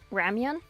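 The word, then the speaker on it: ramyun: It's It's basically their version of ramen. How do you spell that? R A M Y U N. Ramian. I thought you were just saying ramen wrong and I was going to make fun of you. No. Ramian.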